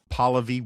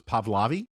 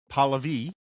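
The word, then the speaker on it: Pahlavi: Um, that I've pron been pronouncing um, Palvi wrong. Uh, I like I always thought it was Pavlavi because that's sort of how it looks on the uh, screen on the page.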